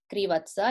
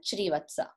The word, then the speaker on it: Shrivatsa: Words wise pronunciation, only one place. It is not Spurak Krivatsa, it's Spurak Shrivatsa.